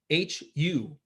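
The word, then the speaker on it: هو: And lastly, there's a mantra which in Arabic is known as who hu which is pronounced like an elongated breath.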